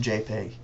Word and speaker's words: JPEG: to choose is this Dot jpg and it's pronounced JPEG and this is going to account for I